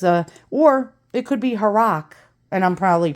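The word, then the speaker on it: Harrach: below and tell me h-a-r-r-a-c-h it sounds like Barack like Barack Obama a rock Barack Obama don't mind me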